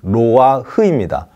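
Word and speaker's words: נֹחַ: 해당하는 히브리 단어가 레하흐입니다 로아라는 이름을 정확히 발음하면 로아흐입니다 로아 흐아 레하 댓글을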